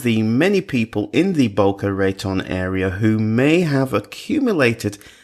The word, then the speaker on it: Boca Raton: so welcome now first did I get the pronunciation right is it Boca Raton or baccarat but a baccarat count Boca Raton okay all right I remember that anyway John